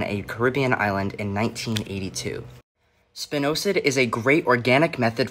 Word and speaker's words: spinosad: have you ever heard of this word it's pronounced spinosad and it's a really great thing for your